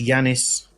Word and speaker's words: Janis: I think it's Yanis. And yes, correct.